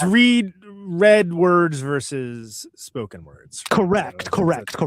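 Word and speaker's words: Ra's: I'm used to the the actual way you say it in Arabic right right Um, I guess but it's it's read read words versus spoken words.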